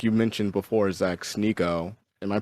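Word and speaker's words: Sneako: Some people have noticed it, like you mentioned before, Zach Sneeko. Am I pronouncing his name right? Sneeko?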